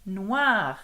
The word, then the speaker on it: noir: Yes, you do pronounce the re in noir.